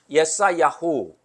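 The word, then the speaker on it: יְשַׁעְיָהוּ: 이렇게 해서 이사야 선지자를 보냈는데, 이사야 선지자는 이름의 뜻이 뭐냐면 예사야후, 그걸 이제 우리 발음으로 그냥 이사야 이렇게 번역을 해놨는데, 음역을 해놨는데, 하나님은 구원이시라, 그런 뜻이에요.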